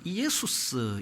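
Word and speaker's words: Ἰησοῦς: 예수로 하라이 말은 어 헬라 말로는 이에수스 이런 발음입니다 이제이 한글화 하다 보니까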